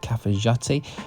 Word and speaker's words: Cafayate: to cfat so it's spelled cafayate but they pronounce it cfat so cfti is this lovely mountain town in